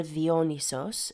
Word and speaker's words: Dionysos: So Dionysus, or Dionysos, as his name is pronounced in Greek, is often depicted amid